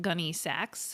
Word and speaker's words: Gunne Sax: Okay, so next we're going to talk about a different Gunny Sachs and this is the brand of dresses that's spelled Gu U N E S A X like the saxophone.